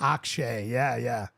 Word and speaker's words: Akshay: Oh, I would Akshay? Is that how you say it? Akshay.